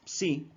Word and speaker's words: psi: Si no saben pronunciarlo, es psi, así.